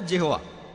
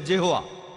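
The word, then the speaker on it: Jehovah: আর উচ্চারণ করার সময় তারা সামনে একটা জে লাগায় আর এটা হয়ে যায় জেহোয়া।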